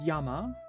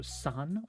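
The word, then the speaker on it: 山: This is Yama, sometimes also San or Zan, but it's 3 mountains, and over time you can just see how it becomes this, right?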